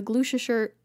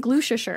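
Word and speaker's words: Gloucestershire: sergeant Carter of the glue shirt glues gluten oh my gosh glutes sure police oh that Chester Shire glue sure sure you say it like glue sure sure it's like washer sure glue sure sure police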